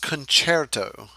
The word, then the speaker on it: concerto: necessarily exhibit that okay concerto though it is pronounced concerto don't say it you know concert oh I know it's real tempting to just pronounce